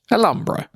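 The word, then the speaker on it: Alhambra: how to pronounce it it's a Spanish word so the H is silent alumbra but it's la alumbra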